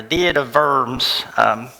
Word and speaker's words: Diet of Worms: So diet, and anytime you see a W, it's a V. So this is like the diet of worms.